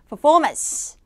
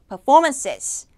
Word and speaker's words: performance: 그대로 적용이 돼야 됩니다 Performance Performance 자 복수일 때는요 마찬가지로 performances performances 그래서 단수일 때도 이음절 강세 복수일 때도 이음절 강세 자 그래서요데 그 단어 안에서요